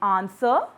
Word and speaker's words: answer: The next silent letter is W in answer, rap, right, and wrong.